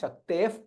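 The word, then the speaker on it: शक्तेः: So you say there you will hear Pa, slight Fakara that you will hear than instead of Visarga. Shakteh Pautrama Kalmasham. That is how it is Pronounce Shaktef Pautrama Kalmasham.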